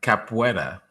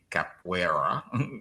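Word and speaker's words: capoeira: I know it's so tricky because the spelling is deceptive. The Portuguese. Um, cap capua. Capua. Exactly. So, I guess the phonetics phonetics would be c a p we d a capua. even though it's spelled C A P O E I R A capera but yes that I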